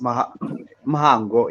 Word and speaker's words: Mhango: But It's Mhango, actually pronounced Mhango. Yeah, Mhango. Mhango. The H is almost silent.